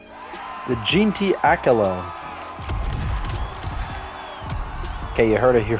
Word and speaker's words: Akylone: Akalone.